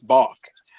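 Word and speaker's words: balk: of bulk so bulk it's B it's bulk the L is silent rever let's get to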